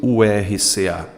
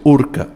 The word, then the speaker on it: URCA: veja como eu pronuncio eu pronuncio Urca eu não pronuncio ur RCA eu pronuncio urka um acrônimo professor se